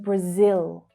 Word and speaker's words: Brazil: In English, we really hit the final O consonant sound there in Brazil. Brazil. So the unstressed schwa sound is heard in the first syllable. Br, br, br. But the stressed sound is on the second syllable.